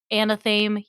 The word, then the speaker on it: Anathame: I think Anathame. that's Anathame. Yeah, Mhm. that's how you pronounce that.